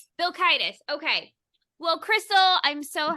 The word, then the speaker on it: Vilkaitis: Crystal Vilkaitis is on, and I hope I just pronounced your last name close enough. Say it one more time for me. Yeah, you were close. Vilkaitis. Vilkaitis.